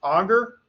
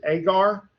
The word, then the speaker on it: agar: I was taught, again, many more years ago than I care to think about, that word was pronounced auger. Now most people pronounce it agar.